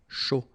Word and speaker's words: chaud: chocolat chaud, remember, CH, chaud, chocolat, and then final T not pronounced, chaud, final D not pronounced, un café glacé, un thé, remember, H is not pronounced.